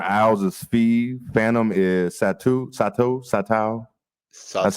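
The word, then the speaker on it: Satou: Phantom is Sato. That's how you say it. Satu.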